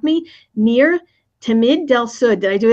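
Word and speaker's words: Ner Tamid: I mispronounce this, I'm sure you'll correct me, Nir Tamid del Sud. Did I do that right? That's right. Nair is eternal Tamid, Nair Tamid, eternal light.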